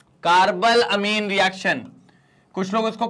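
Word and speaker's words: carbylamine: सारी name reaction है carb अमीन reaction कुछ लोग उसको कार्बाइन अमीन रिएक्शन कहते हैं लेकिन कार्ब अमीन रिएक्शन आप बोल सकते हैं ठीक है स्पेलिंग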